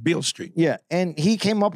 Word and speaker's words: Beale Street: came up playing on Bill Bill Street I can't even say it right Beale Street yeah and he came